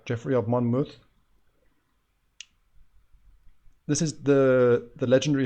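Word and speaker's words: Geoffrey of Monmouth: one of our viewers corrected me on my pronunciation so now hopefully I'm getting that right Jeffrey of Monmouth this is the the legendary history of Britain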